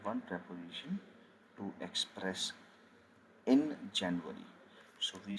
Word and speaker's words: Januar: So let's say we have January, February, and so on. Okay, it is pronounced as Januar, Januar, Januar. As we know, J is always pronounced as Ya, Januar, Februar, Februar, Februar, Februar,